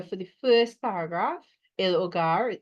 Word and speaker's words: hogar: Right, so vocabulary for the first paragraph, el hogar, H is silent, right?